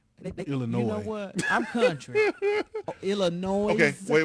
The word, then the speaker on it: Illinois: uh we got uh that s is silent baby illinois i'm country illinois okay